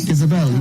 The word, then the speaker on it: Ysabel: Ysabel, even with a Y. Even with a Y. Well, it's the Spanish spelling, so you can say Ysabel.